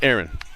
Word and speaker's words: Aaron: I told him, I said, all this time we've been trying to get your last name right, and we've been saying your first name wrong. And that's the easy one. It's Aaron.